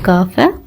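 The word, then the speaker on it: قاف: சொல்லுங்க பாப்போம் Rhine pop இந்த நுக்தா வச்ச மாதிரி உள்ள காப காப் தொண்டையில இருந்து சொல்லணும் காப் இது காப் இந்த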